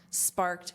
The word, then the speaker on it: sparked: Sparked criticism, and notice that pronunciation. This is a soft T, sparked.